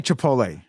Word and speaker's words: Chipotle: do you call the place at the restaurant Chipotle Chipotle yeah this is why will had you